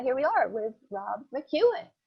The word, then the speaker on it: McKeon: we are with rob mcewen am i pronouncing your name right you are i could because because it's m-c-k-e-o-n hey maureen i'm